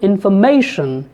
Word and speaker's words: information: syllables are equally stressed the stressed syllable here the primary stress is on Mei so the word information is spoken with may as a stress syllable information if you take another